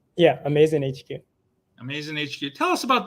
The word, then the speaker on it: AMAZN HQ: Is that the correct pronunciation? Yeah, AMAZN HQ.